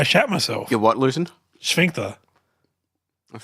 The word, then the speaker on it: sphincter: Sphincter. That sounds German. I like it. Isn't it just, how do you say it? Sphincter. Exactly like that. There's an F in there.